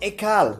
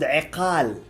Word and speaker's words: iqal: And speaking of things on top, there is this third thing called ikal. It's actually called iqal.